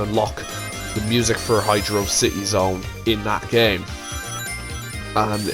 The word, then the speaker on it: Hydro City: be honest but yeah hydrocity is what some people call it because it has no space in the middle but sega's official pronunciation from the zone is hydro city zone if this is stated